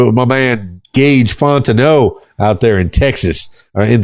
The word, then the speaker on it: Fontenot: It's Gage Fontenot. And how do I know how to pronounce Fontenot?